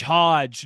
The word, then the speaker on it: Hodge: No, sorry, it was Hodge. Right. Hodge, not Hoge. You know what we should have done, Wes? We should for the next several episodes, end every show with a word that rhymes with Hodge, right?